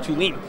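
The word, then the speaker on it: Thulin: It's T-H-U-L-I-N, but it's pronounced Tulin, which to me has always been the great portfolio company.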